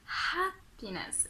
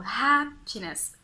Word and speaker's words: happiness: Like, don't worry, the H will not eat you, it doesn't bite, so just pronounce it, don't worry. The H is a peaceful letter, so happiness, it's not a... Be careful, happiness.